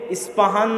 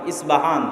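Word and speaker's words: Isfahan: আজও ইরানের মধ্যে ইস্পাহান নামে সেই নগরী আছে। আমরা প উচ্চারণ করি ইস্পাহান, আরবিতে এটা উচ্চারণ হয় না। আরবিতে হয় আল আসবাহানি, বা উচ্চারণ হয় ইসবাহান বা আসবাহানি।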